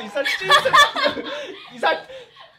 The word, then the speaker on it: 이삿짐: 아니, 이삿짐 했어, 이삿짐 센터! 석진, 이삿짐 센터! 이삿짐 센터! 찜이 맞습니다, 발음이. 발음이 찜이 맞아요.